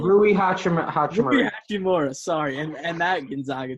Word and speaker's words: Rui Hachimura: Rui Hachimura.